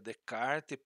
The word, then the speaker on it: Descartes: é o próximo redecard nós escrevamos Descartes né mas se pronuncia de kart penso logo existo né